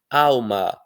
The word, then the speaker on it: alma: Alma, que algumas pessoas pronunciam como se o L fosse um u.